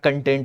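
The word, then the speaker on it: content: आज इंटरनेट पे सभी लोग कहते हैं मैं कंटेंट बना रहा हूं।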